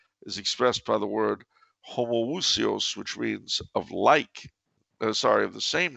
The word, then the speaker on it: homoousios: So it's homoousios or Yes. What is it? How do you pronounce the second one? Homoousios.